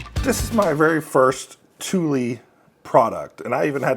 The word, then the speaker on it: Thule: is my very first Tuli product and I even had to ask how how do you say this Tuli you can kind of see it there Tuli Swedish brand uh I think they're